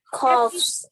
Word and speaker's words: coughs: GH bunyinya jadi kayak huruf apa? F. Yes, betul. Coughs. Aha. Berarti yang mana nih? F bergetar nggak? Kalau S. S. Yes, jadi final S-nya? Coughs. Aha.